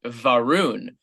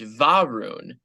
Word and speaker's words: Varun: born in India, and I always said his name was Varun, but he was like, no, it's pronounced Varun. Yeah, it's Varun. Well, but he puts the emphasis on the first syllable.